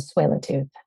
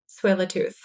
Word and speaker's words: Tsleil-Waututh: Musqueam, Squamish, and Tsleil-Waututh. Tsleil-Waututh.